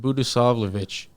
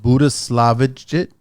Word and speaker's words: Budisavljevic: I pronounce it Budisavljevic. So the best, I'm not laughing at it. I love these European names, right? So yeah. So just the J sounds like a Y, and then the C is pronounced CH. Budisavljevic.